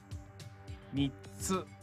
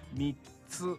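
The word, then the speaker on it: みっつ: Mitsu. Mitsu. Sounds like meats. Three meats. Mitsu.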